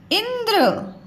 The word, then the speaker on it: इंद्र: उन्होंने इंद्र, अब देखिए इसमें नाम में उच्चारण कम आया, ध्वनि कम समय लग रहा है, इसलिए आधा ना, ठीक है।